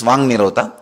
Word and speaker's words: Vak Nirodha: Vak Nirodha only, when you pronounce it becomes Vang Nirodha.